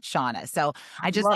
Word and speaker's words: Shanna: don't people my mom read a love novel and it was SHA, so it's like Shanna, but she gave birth to me, so we pronounce it Shauna.